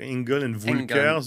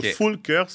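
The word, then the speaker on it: Engel & Völkers: je pense que si on était allemand, on dirait Engel and Volkers ou Fulkers.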